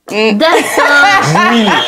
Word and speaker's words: Dassin: Alors Joey qui se prononce Joe Dewin. Dassin.